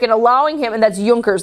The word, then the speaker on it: Junkers: an army and the yonkers in return for obedience to Frederick and allowing him and that's Yonkers not Junkers the J is pronounced as a you sound Yonkers it's a German